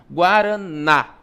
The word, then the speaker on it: guaraná: O na, ele é pronunciado com mais força, guaraná.